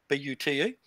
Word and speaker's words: Bute: We're going to Dumfries to start with, Isle of Argyll and Boot. Excuse my pronunciation. Argyll, yeah. Argyll and Bute.